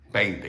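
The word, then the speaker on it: veinte: in boy, even though it's spelled with a V. Anytime you see a word in Spanish spelled with a V at the beginning of the word, you pronounce that V just as you would the letter B in English words like boy or boat or bubble.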